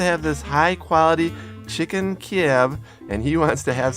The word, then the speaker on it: Kiev: pronounce it in English chicken Kiev yeah with a V sound right and this is kind